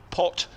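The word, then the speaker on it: Potgieter: the golf site and his name is pronounced phonetically potter it says as if the eyes aren't there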